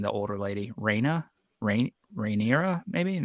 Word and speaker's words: Rhaenyra: older lady raina rain rhaenyra maybe it's it's not rainier but that's our thing it's it's like reyna